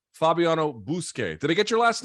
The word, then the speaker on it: Buskei: the UFC translator extraordinaire it's I think I'm pronouncing this right Fabiano bousquet did I get your last name right you